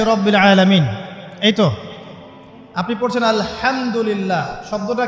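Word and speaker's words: الحمد لله: আপনি পড়ছেন আল্লাহু আকবার আলহামদুলিল্লাহি রাব্বিল আলামিন এইতো আপনি পড়ছেন আলহামদুলিল্লাহ শব্দটা কি আলহামদুলিল্লাহ এই হা এর মাখরাজ কোথায় হা এর মাখরাজ কোথায় বলেন একজন কণ্ঠনালীর মাঝখান থেকে এখান থেকে আপনি উচ্চারণ করছেন আলহামদুলিল্লাহি রাব্বিল আলামিন অর্থ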